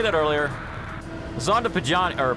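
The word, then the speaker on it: Pagani: Zonda Pajani, or Pajani Zonda.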